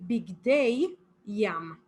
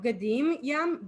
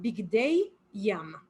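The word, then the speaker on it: בגדי ים: So it would be bigdei yam. Okay, not bgadim yam, bigdei yam.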